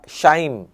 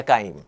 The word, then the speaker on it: chyme: called as chyme या शाइम is created। ठीक है, तो स्टमक से जब वो आगे चलेगा ना फूड, तो उसको फूड नहीं कहते, फिर उसको शाइम कहते हैं या काइम प्रोनाउंसिएशन।